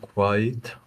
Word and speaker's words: quiet: did did she keep quiet quiet there's an e in the middle to separate the two sounds quiet did she keep